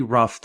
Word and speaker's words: rough: sketch of the design the pronunciation for the word rough is just using the letter F rough rough rough out